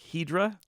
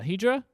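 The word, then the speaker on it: Hidra: Except it's spelled with an I, so it's like Hydra? Yeah. Hydra?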